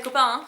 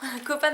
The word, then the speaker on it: Copan: les copaines à l'ail copain ça s'écrit C o P a n voilà donc pas les copains copaines à l'ail donc en